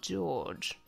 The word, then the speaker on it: George: His name is Ushiromiya George, pronounced like that.